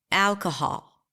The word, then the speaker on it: alcohol: do it with me alcohol on what syllable did you clap nod your head sna your fingers the first syllable right Al Al if not then you